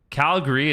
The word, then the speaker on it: Calgary: Calgary is how you say it. If you say Calgary, then we know you're not from here or you're just saying it wrong.